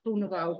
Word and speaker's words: Groenewoud: And yeah, I have a little green, but that's because of my second name, which no one can pronounce. It's Groenewoud, which means greenwood.